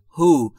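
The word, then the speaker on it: who: چه فردی چه کسی دوستان دقت بکنید دلیش تلفظ نمیشه پس میتونیم بگیم هو یعنی چه فردی چه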